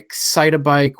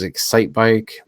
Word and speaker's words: Excitebike: one was on mhm exciti bike which everybody else pronounces Excitebike yeah ice climber various other